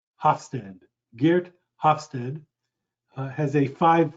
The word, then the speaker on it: Hofstede: dutch researchers one researcher his last name is hofstede i'll spell that for you it's h o f as in frank s as in sam t e d e hofstede geert hofstede has a five factor model that